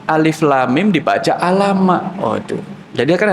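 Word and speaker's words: الم: Amma Ini mulainya apa Alama loh kok Alama Alif Lam Mim dibaca Alama Waduh jadi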